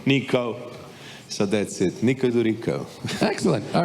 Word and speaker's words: Djuricko: But try with Djokovic, that's the G, so Djuricko.